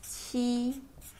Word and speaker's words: 七: For 7 is pronounced as 七.